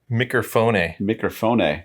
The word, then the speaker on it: Mikerphone: about another brewery today, Mikerphone, which is the pronunciation. It's a special way to pronounce it in Elk Grove in its native habitat.